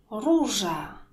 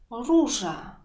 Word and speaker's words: róża: Hoy vamos a ver los ejemplos con dos vocales con la misma pronunciación.